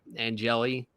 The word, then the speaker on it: Angeli: Syracuse has averaged 13 points, Tony, since losing the starting quarterback, Angeli.